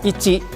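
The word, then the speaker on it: 一: dibaca dengan hitotsu, sedangkan cara baca ongyomi ini dibaca dengan ichi atau ich.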